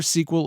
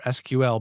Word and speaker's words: SQL: 50 years old sequel you can pronounce it either sequel or SQL by the way is